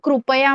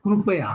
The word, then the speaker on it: कृपया: मराठीमध्ये आपण कृपया म्हणतो. Yeah, because in Hindi we say ritu, and I think in आणि Marathi मराठीमध्ये ऋतू म्हणतात. येस, येस. So we should pronounce as a krupaya.